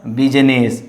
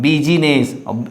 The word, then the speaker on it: business: Only one word, that means lot of word, but I have written one word, that is exception, business. So not business, it's a business. So I is silent in this condition.